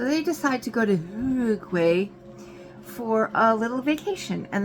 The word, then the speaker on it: Uruguay: So he knows all the pronunciations for Spanish, which I took French, and he says it's not pronounced like that. Uruguay. It's pronounced like Uruguay or something like that.